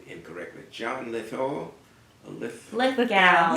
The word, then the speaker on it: Lithgow: And presiding at that event was the actor, I'm pronouncing his name incorrectly, John Lithgow? Lithgow. Lithgow.